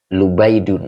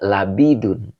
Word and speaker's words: Labid: Ini dibaca Lubaidun. Ada juga yang bacanya Labidun. Ya, nama orang ya. Dia Labid, boleh juga Lubain, gitu ya. Jadi, dibaca Lubaidun atau Labidun juga boleh ya.